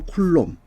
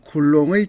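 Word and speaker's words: coulomb: 31번 어떤 도체를 T초 동안에 Q 그 다음에 여기 C라고 되어 있는데 이 C를 어떻게 하냐면 영어로는 쿨롬, 프랑스어로는 쿨롱이라고 있습니다. 그래서 Q 쿨롱의 전기량이 이동하면 이때 흐르는 전류 I, 요거는 요 A를 암페어라고 읽으면 되겠습니다.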